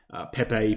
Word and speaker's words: Pepe: People always mock me for for saying it wrong. I call it peep. I don't know why. It's just an addiction that I have. Apparently, it's Pepe or something like that.